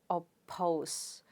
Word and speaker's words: oppose: a stressed syllable because the stress is on the second syllable therefore you pronounce it as oppose so the per sound